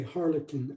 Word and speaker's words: Harlequin: harlequin okay yeah it's it's spelled q u but the q u is pronounced as a k so if that helps okay harlequin okay um well i